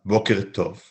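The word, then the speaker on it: בוקר טוב: Notice that the k in boker is a kuf and not a kaf. And the t in tov is a tet, not a taf.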